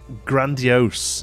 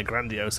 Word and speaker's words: grandiose: I pronounced it wrong. Grandiose, yeah, grandiose.